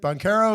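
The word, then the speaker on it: Banchero: their playoff prospects I think Orlando is good banero is a bad boy don't get me wrong and I hope I pronounced that name right it's bonero or bonero I'm not 100% sure you said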